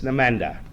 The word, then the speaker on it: NMDA: n methyl aspart receptor it's nenda that's all you need to know so that that covers